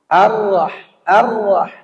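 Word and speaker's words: الرحمن: Ar-Rah, bukan au. Yang membaca Ar-Rahmanir-Rahim, au itu salah. Bacanya Ar-Rah, yang tebal itu ra. Ar-Rahmanir-Rahim, bukan Nir-Rahim.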